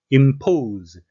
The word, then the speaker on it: impose: Impose, S는 Z 발음이 나겠습니다.